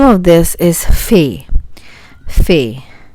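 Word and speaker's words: ف: It is just like English letter fa. Fa. And the name of this is fe.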